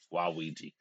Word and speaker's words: Waluigi: Waluigi. Yeah, that's how you pronounce it.